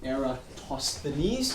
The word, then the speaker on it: Eratosthenes: very long awkward name era TOS thees if you want to know how to pronounce it it's era toss the knees whatever that means so